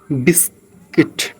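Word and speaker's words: biscuit: जी के बाद अगर यू आ रहा है तो भी साइलेंट रहेगा। जैसे हम बात कर लेते हैं हां जिसमें बिस्किट बिस्किट हो जाता है।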